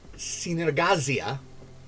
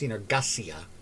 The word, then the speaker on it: Synergasia: The world is called Synergazia. Actually, it's pronounced Synergasia with a s sound in there. Synergasia, which is Greek for collaboration, which should make Dimitri happy Demetrius, I should say.